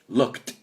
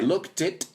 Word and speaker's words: looked: Looked. O sea, acaba con sonido T. So si ponemos up, lo consulté en internet, I looked it, fijaos, looked it.